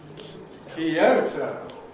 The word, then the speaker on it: Kyoto: What do we call it in English? Kyoto. Why? So, O goes to O, that's normal equivalence, but notice that this looks to us like the result of a compression, which we can't do in this environment, because O is stressed.